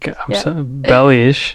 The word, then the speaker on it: Belis: Belis.